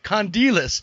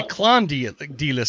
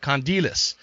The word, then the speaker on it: Kondelis: last name dude i already forgot how to pronounce it condilius see i was going to say klondi d-list so i'm glad you did that condilius and um where does that name come from